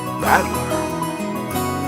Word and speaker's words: Battler: the characters for fight on person and it's pronounced badler put it all together you got usira Mia